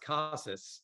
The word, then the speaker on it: Casas: Yeah, I mean, evidently it's pronounced Casas, although Casas, yeah.